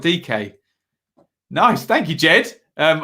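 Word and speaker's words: Dike: judge says evening ben daryl dyke is pronounced daryl dk nice thank you jed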